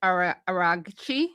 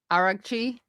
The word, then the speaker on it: Araghchi: So initially, Iran's foreign minister Abbas Araghchi, is that how I pronounce it? Araghchi?